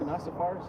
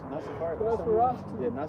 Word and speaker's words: Nosferatu: Nasafaris? Nosferatu.